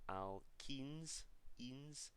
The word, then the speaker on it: alkenes: So it's a very, very subtle difference, and it's a slight pronunciation change as well. When it's E-N-E in this case, it's the alkenes, and the last homologous series that we looked at when it was A-N-E was the alkanes.